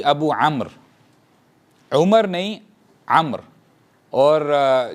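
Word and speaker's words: عمرو: मैं बहुत अरसे तक उसको अमरो पढ़ता रहा था सीरियसली, जब मुझे पता नहीं था। तो अब जब मैंने सीखना शुरू किया तो वाव साइलेंट होता है, तो वो अम्र कंसीडर किया जाता है।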